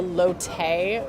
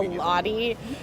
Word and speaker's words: Lotte: Is it Lot or Lotte? The hotel that's nearby. Yeah, I think it's technically pronounced the Lotte. Lotte, I think I said the Lottie.